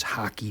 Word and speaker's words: hake: kind of just uh we refer to it as as the heck brush but uh we have heard that the pronunciation is hockey brush which to me is